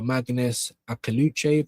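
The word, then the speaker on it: Maghnes Akliouche: A PSG in Monaco for Magnus Akaluchev.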